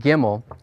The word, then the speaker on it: gimel: the Hebrew alphabet is called gimel and it's the letter it's the G sound in Hebrew all right so let's